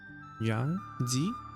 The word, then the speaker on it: Yangtze: here mothers on the Jong G Riv Yang Z Riv that's how you say it when we are developing